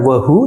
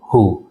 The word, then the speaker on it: who: Makanya di sini adalah bacanya bukan wu tapi who.